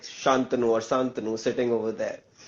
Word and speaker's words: Santanu: Then I think I'll be like, uh, Shantanu. Shantanu.